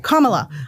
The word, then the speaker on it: Kamala: uh I'm voting for Kamala Kamala I keep saying it wrong Kamala I'm voting for Kamala